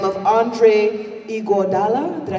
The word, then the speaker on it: Iguodala: And there was a gentleman by the name of Andre Iguodala.